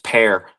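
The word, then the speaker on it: Per: His name is Pear. It's spelled like P E R.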